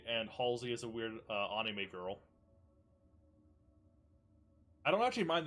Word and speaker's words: anime: That's how you pronounce it. Japanese phonetics is a-i-u-e-o, so it would be anime.